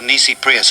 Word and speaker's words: nisi prius: argument up is the nisi prius argument let me spell that for you n n i s i prius p r i u s it's an easy prius argument see all courts in